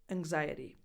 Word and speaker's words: anxiety: In this one, you don't see the G, the G symbol in the phonetic spelling because the N before the X softens that G sound, anxiety.